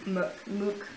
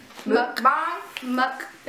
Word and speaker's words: Mukbang: I still don't really know how to say mukbang. Mukbang. Mukbang. Like muk and then bang.